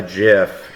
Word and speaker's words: GIF: was getting so frustrated that I sent a GIF and yes, that's how you're supposed to pronounce it.